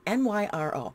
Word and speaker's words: Nyro: name is Laura and I think it's pronounced Nero it's Nyro she had a fairly long